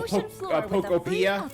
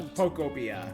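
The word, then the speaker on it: Pokopia: I've been saying it right. I've heard people pokeia. No, Popia.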